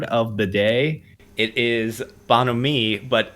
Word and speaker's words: bonhomie: It is bonhomie, but it's spelled like bon homie, like the B-O-N and then homie.